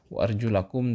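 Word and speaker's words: وَأَرْجُلَكُمْ: Wa arjulakum, dan kaki kalian ilal ka'bain. Di sini kita lihat bacanya wa arjulakum, ya. Berarti kalau wa arjulakum itu dia harus dibasuh.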